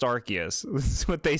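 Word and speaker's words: Arceus: just like the whole archus debacle some pronounce it the seaway Okay. And some pronounce it the C in a hard K- like way. Now you're trolling because you know it's pronounced Archus.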